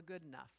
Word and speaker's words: Goodenough: One such thinker is Ursula Goodenough, which is spelled like it sounds.